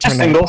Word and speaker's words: Singel: up or not so did you do we pronounce it singel or single how does it how do it single single the joke was my ancestors came over